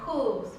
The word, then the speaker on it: whose: Bueno, un pequeño dato muy interesante es que hay palabras que comienzan con W, pero esa W de hecho es muda y van a comenzar con este sonido de H pronunciada, es decir, la que no es silenciosa.